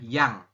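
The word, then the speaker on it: 양: Berarti dibacanya adalah ya ditambah dengan eng. Nah, seperti ini. Berarti adalah yang. Seperti itu. Oke ya. Maka kita membacanya yang.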